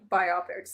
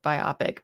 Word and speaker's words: biopic: because I think other I always want to pronounce it by optic but then I think every time I hear other people say it they say biopic and I'm like ah that just does not sound as cool like you went it